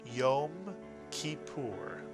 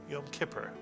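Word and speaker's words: Yom Kippur: syllables it is kipur you put the words together you get yum kipur which in English we tend to say yum Kipper but in Hebrew it is yur and the root of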